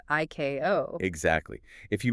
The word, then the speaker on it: ICAO: Just like the regulatory body ICAO is always pronounced IKO.